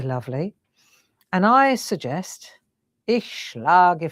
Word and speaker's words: schlage: Ich schlage, like lag, but it's like an I at the end, schlage.